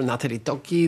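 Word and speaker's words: Nathalie Tocci: I'm thrilled to have with us Professor Natali Точи, Director of Istituto Affari Internazionali. Is that correct pronunciation? Perfect. Perfect.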